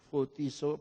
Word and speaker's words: photizo: Photizo, P-H-O-T-I-Z-O. Dibacanya F, photizo.